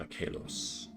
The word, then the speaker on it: Achelos: Everyone but Freaky calls me Achelos, so it's fine. Yeah, Greco-Roman pronunciation Achelos.